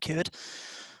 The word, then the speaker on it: Kured: the first ever QD we're pronouncing this correctly uh yeah that'll be cured QD perfect developed a meeting welcome